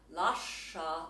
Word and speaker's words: Lascia: For example, Lascia, the sh is doubled.